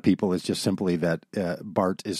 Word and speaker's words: Barth: a lot of people is just simply that Bart is spelled with a th at the end and